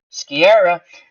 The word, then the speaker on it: Sciarra: Sciarra, that's how you pronounce his name.